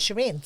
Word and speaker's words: Sharon: since I remember, but my name is spelled Sharon, but it's a Persian name. So, I don't know why they spelled it Sharon. Sharon, but it's said from Since I'm a child, Shireen.